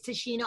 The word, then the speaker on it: Tichina: But it's Tichina Arnold, T-I-C. Well, I tell people to spell it T-I China, like the continent.